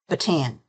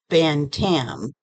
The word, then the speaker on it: Bantam: can never pronounce it I want to say batan but that's not how it's written it's it's written Bantam b a n t a m yeah um but I always say batan and that's how I'm